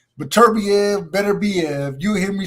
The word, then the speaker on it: Beterbiev: like 'cause I used to say Beterbiev, but it was like it is Beterbiev. That's how I, you should pronounce it.